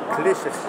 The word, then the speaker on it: Kleczewski: Bonjour Hervé Kleszewski. Kleszewski, parfait, c'est parfait. Kleszewski. Votre nom est toujours un peu difficile à prononcer.